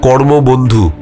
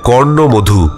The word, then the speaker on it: কর্ণমধু: যে গ্রামের নামটা আমি ঘটনায় বলেছি সেটা আমি ভুল উচ্চারণ করেছি, সেটা আমি বলেছিলাম কর্মবন্ধু। এই নামে কিন্তু কোনো গ্রাম নেই, আসল নামটা হবে কর্ণমধু।